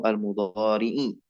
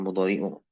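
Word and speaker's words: المضارعِ: Satti jawazimu almudorii bitafsili. Insyaallah akan datang nanti pembahasan. Nah, ini tadi bacanya satati nawasibu almudorii ya bukan mudoriu.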